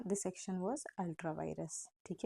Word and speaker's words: vires: दोनों का प्रोनाउंसिएशन बिल्कुल सेम है, वायरस वायरस।